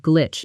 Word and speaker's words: glitch: I think there was some kind of glitch in the latest update. Shadow it. There was a glitch in the update. Notice the pronunciation. It's a short, sharp word. Glitch. Rhymes with switch.